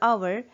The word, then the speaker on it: hour: N is used with the word r because in r or hour, sometimes people do pronounce it as an hour ago, h is silent. Therefore, the first sound that you hear is of an o and not h.